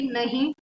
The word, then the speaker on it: know: है, NO, मतलब कि नहीं। और दूसरा होता है नो, मतलब KNOW, जिसका मतलब नो मतलब जानना, राइट। तो इसमें के क्या है, साइलेंट हो गया, वो साइलेंट लेटर हो गया।